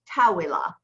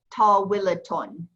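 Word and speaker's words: طويلة: said it unvoweled, it was tawila. tawila. But when you say it completely voweled, it's tawilaton. So you get that ta sound at the end with the un, okay?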